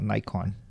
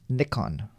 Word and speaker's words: Nikon: wrong Impressions here but I've also heard it pronounced Nikon Nikon instead of Nikon and I don't know